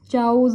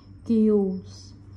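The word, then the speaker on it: chaos: एंड इसको तो बड़ा भी कॉमन सा ना चाउज बोल देते हैं, चाउज इसका मतलब हफड़ा दफड़ी है ना, जैसे Los Angeles is a place full of केओस, इसको क्या प्रोनाउंसिएशन, केओस।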